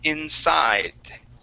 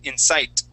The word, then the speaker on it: inside: you is the word inside all right so when you pronounce that d at the end it sounded like a t okay you would say insight right all right but